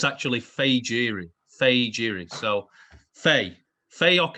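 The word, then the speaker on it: Fejiri: journalists on this everyone's been calling him either fujiri or fahiri with a silent j he said it's actually fagiri fei jiri so faye fayoke and a beer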